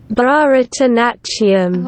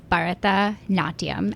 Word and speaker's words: Bharatanatyam: British pronunciation, Bharatanatyam. Oh, not quite. and then put it back into fast pronunciation. Bharatanatyam. But it sounds like none of those are right. Yeah, so it's Bharatanatyam.